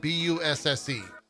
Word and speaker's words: Busse: It's spelled B-U-S-S-E.